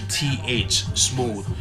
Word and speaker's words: Smoovth: But Smoovth is spelled SMOOVTH. Smooth.